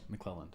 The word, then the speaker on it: McClelland: Anyway, Hockball wins the McClellan Trophy. Isn't it McClelland? McClelland. McClelland.